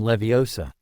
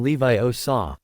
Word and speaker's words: Leviosa: The boy was practically shouting in Hermione's ear, "Wingardium leviosa." The girl seemed to snap at his spitting, "You're saying it wrong. It's<unk> wingardium." Levi o saw, "Make the gar nice and long.